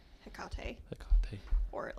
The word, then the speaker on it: Hecate: So my options are, I think I might do Hecate because that's what ChatGPT told me to do the first thing, which is very interesting to me because Hecate Okay.